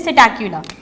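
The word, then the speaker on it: Psittacula: यहाँ पे जो सिटैक्युला की स्पेलिंग है स्टूडेंट्स, इसमें पी साइलेंट है, इसे हम प्रोनाउंस करते हैं सिटैक्युला।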